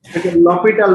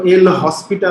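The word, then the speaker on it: L'Hôpital: লপিটাল rule বলতে হয় সাধারণত, মানে উচ্চারণটা এরকম, যদিও এল হসপিটাল।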